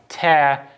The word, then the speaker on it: tear: up rhyming for example we have the pair tare and prayer which are spelled quite differently apart from you know both ending in an r and we wouldn't necessarily